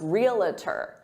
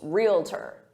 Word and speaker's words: realtor: by native speakers because some native speakers add an extra syllable and they say realtor, realtor, and they say it with 3 syllables, realtor, when in fact it's 2 syllables, realtor, realtor. So if you hear a native speaker say realtor, just know that that's an alternative pronunciation, but some people get